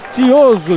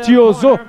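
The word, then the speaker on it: Tiozzo: Fabrício Tio Zou, disse o Jimmy Lennon, numa linguagem mais inglesa, numa pronúncia mais inglesa. Fabrício Tio Zou, mais para o lado do francês, ex-campeão mundial que vem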